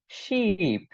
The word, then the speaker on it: sheep: SHIP এটার উচ্চারণ শিপ, বাট SHEEP এটার উচ্চারণ হচ্ছে শিপ, টান হবে শিপ।